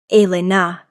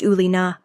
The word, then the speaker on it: Elena: He pronounced it correctly. Elena, not the Americanized Ulina, with a slight accent.